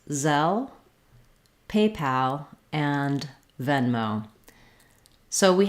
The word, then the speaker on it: Zelle: at the end um but the word zell just has three sounds the z the e like in red tent and our final l so it might help you to think of the word cell because it's a very